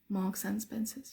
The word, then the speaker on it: Marks and Spencer: you think that is we say Marks and Spencers marks and Spencer's and then the and in the middle becomes marks and Spencer's Marks and Spencers Marks and Spencers that's the way we say it some people say marks